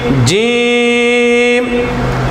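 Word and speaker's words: ج: আলিফ বা তা সাম জিম যখন আপনি উচ্চারণ করবেন তখন খুবই শক্ত হবে জিম উচ্চারণ করতে খুবই শক্ত হয় কিন্তু সাচ্চারণ করতে খুবই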